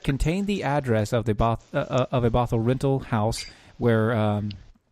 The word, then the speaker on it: Bothell: Keep saying Bothell. Bethel. Bethel. It's Bethel. No, it's Bethel. Bothell. No, it's pronounced here as Bethel. Too bad. It's Bothell. I know.